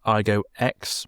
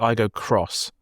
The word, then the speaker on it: iGo X: Um the one I reviewed the other week was the iGo X. Well, actually, I think it's the iGo Cross. When I looked at how to pronounce it, so, which is I find really weird.